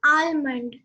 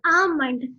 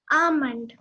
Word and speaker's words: almond: It is not almond, it's almond. The L is silent over here. So it is pronounced as almond.